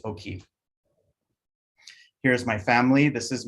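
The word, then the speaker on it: Oki: quick language lesson is how do you say hello in Blackfoot? It's O'Keefe.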